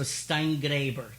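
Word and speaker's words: Steingraeber: She said, you have to pronounce the name. So Steingraber, good.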